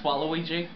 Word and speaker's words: Waluigi: It's Waluigi. Waluigi. Yeah, because it's a wah sound. It's W-A. Waluigi. No, Waluigi. No, we don't care about Waluigi. Why would you even say that? It's Waluigi.